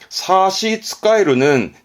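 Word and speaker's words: 差し支える: 근데요, 요렇게 쓰게 되면 발음은 사시츠카에루입니다. 사시츠카에루는 지장이 있다, 무언가에 지장이 있다 할 때 사시츠카에루.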